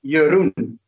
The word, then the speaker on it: Jeroen: My real name is, a lot of people wouldn't know this, how to pronounce it, but it's Jeroen. Jeroen.